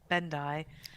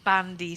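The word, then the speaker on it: Bendii: The first time she says it right, Bandai, and then later she says he doesn't have Bandy syndrome.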